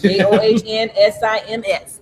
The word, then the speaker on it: John Sims: Spelled like it sounds. JOHNSIMS.